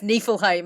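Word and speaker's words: Niflheim: poo tigeredness who knows I'm pretty sure I mispronounced uh nifelheim last episode because Yoon was laughing because I said it like nipple and he's like it's nephilheim I was like well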